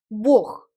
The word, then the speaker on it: Бог: Dans le mot bourg, Dieu, à la fin, on prononce h comme dans le mot хорошо, bien.